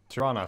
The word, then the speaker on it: Tyrannis: Antoine Gideon Alexander Lucien Tyrannis almost I ran a Tyrannosaur fourth Tirana actually just letting everyone know that's how it's pronounced I'm sure I can